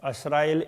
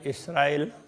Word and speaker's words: इसराइल: बनी असराइल, असराइल इसराइल, इस तरह से वो उच्चारण में थोड़ा थोड़ा फर्क है। कोई असराइल कहते हैं, कोई इसराइल कहते हैं।